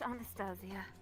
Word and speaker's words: Anastasia: infamous delightful Anastasia I presume it's pronounced Anastasia but if you've only seen it in writing it's an easy mistake to make of course Anastasia Resurrection